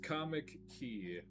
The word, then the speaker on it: Comickey: It is pronounced comic key. There's a there's a brief pause in there.